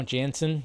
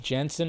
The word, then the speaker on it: Jensen: say his name wrong you know Jansen Jensen right there doing that got some